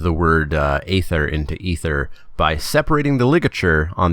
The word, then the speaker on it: Aether: stupid reason but yes despite what the word looks like they are saying it is pronounced ether yay ether meltdown one